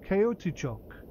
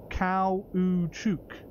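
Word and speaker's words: caoutchouc: rubber is that rubber coyote jock it's pronounced cow Oh Chuck cow Luke and it means rubber in French okay thanks guys thanks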